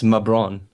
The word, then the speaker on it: Mabron: my name right LeBron it's mabron mabron like LeBron mabron yeah kind of like LeBron yeah mabron what kind